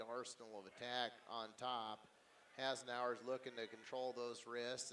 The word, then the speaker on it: Hasenauer: Hasenauer, I believe is how you say it. Hasenauer.